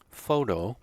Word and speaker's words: photo: we talked about before photo the stress is on the first syllable sectional onsets but photographer